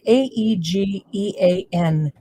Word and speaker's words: Aegean: Aegean. Aegean.